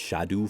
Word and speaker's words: Scadu: around scadu fragments scad technically it's Old English and should be pronounced shadu fragments but it's a lot